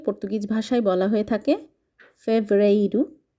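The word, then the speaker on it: fevereiro: ফেব্রুয়ারি ফেব্রুয়ারি কে Portuguese ভাষায় বলা হয়ে থাকে ফেভরাইরু ফেভরেরু মার্চ কে বলা হয়ে থাকে পর্তুগিজ ভাষায় মার্সু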